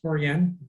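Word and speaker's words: Torreón: so i am still in taurean that's how you pronounce it um i've actually been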